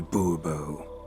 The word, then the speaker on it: Bourbeau: Monsieur de Bourbeau. The emphasis falls on the last syllable.